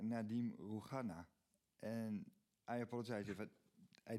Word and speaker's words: Nadim Rouhana: name not correctly, that I should not say Nadim Rouhana, but Nadim Rouhana.